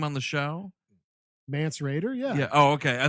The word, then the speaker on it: Mance Rayder: For sure, but it's pronounced Mance Radar. Yes.